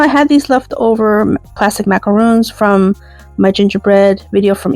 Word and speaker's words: macaron: And then I'll repeat the process and add a plastic macaroon, or macaron, say it correctly, in a French accent.